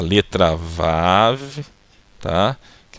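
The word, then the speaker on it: ו: Então aqui é o som do V, aqui é o som do A, aqui é o som do V. Então pronunciando Vav, tá?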